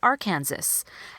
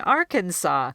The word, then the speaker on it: Arkansas: they've heard it more and then they'll look at this second word and say Arkansas and I've had students who have been saying it that way for years instead of saying Arkansas so by bringing this